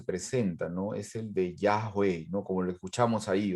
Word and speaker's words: Yahweh: How do you go about pronouncing it? Yahweh, Yahweh, Yahweh.